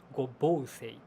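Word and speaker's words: 五芒星: These 5 individuals are represented as forming a single star, which is known in Japanese as gobousei. Yeah, like the single star, 5-pointed star, it's pronounced gobousei.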